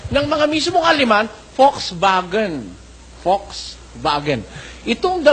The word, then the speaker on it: Volkswagen: mga mismong aliman Volkswagen Volks vagen itong itong V nagiging f at itong w nagiging V ganon ho ang mga